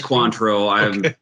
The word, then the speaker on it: Cointreau: And the Cointreau is the only, for sure. Good stuff. Eric, you fancy that how to pronounce Cointreau, or have I been spelled? No, it's Cointreau.